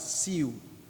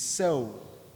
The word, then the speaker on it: sow: When most students see this word, they are tempted to pronounce it as sew. It is not sew, it's sow.